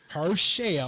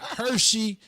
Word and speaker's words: Herschel: uh her shell uh say it right her shell that's what was her shame not hershey not herschel her shell walker make the dancer